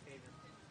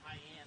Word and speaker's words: Haven: in the comments, and that would be pronounced Haven. Haven. We said that, Haven. Yeah, but this is high-end on our sheet.